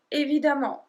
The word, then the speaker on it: évidemment: Numéro 8, the equivalent of course or obviously is évidemment. Évidemment. And as you saw, I put the E in red because we don't pronounce it the same way. So you will read évidemment, évidemment.